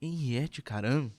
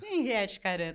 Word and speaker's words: Henriete Karam: Hoje vamos falar com Henriette Caram, né, sobre literatura, direito, filosofia e diversos outros temas.